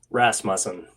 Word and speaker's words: Rasmussen: Tell me how to correctly pronounce the last name. Rasmussen. Ah, okay. Rasmussen.